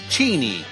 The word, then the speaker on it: Cheney: ask the Lord or Dick Cheney that's cheny if you say it like Chris Matthews that TV hard ball